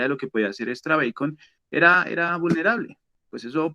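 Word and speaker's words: EXTRABACON: llamada extra bacon bueno extra bacon es la pronunciación correcta era una herramienta pues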